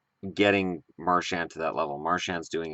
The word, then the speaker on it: Marchand: uncomfortable discussion is Brad marshand or Maran depending on how you pronounce it I'm going to pronounce it marshan in this video is he a